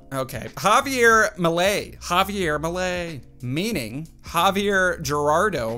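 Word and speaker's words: Milei: Javier Millay. Javier Millay, meaning Javier Gerardo Millay, is an Argentine politician and economist. Economist. All right, that's my final answer. Javier Millay. Javier Millay. It's Millay, not Millay.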